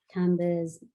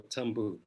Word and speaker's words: Tambu: And Tsitsi's character definitely does come out through Tamba's narration. Just to be clarify, is it pronounced Tamba or Tambu?